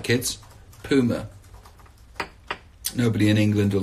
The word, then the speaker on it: Puma: that I have on that's that's right kids pummer nobody in England will like me for pronouncing it that way but I spoke to